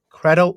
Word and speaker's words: Credo: it I like that I say Credo because I was such an Assassin's Creed Fanboy when I was younger and I just remember